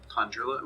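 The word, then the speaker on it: Tan'jula: Is that spelled with a J or a G? Tanjula with a J.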